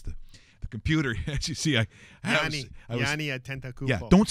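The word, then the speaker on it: Giannis Antetokounmpo: Yanni Antetokounmpo. Opa! Opa! Opa! Don't pronounce the S.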